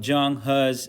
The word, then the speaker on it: Zheng He: and today we will cover lesson two about zhang has explorations yes you heard it right that's how this name is pronounced zhang ha or something close to that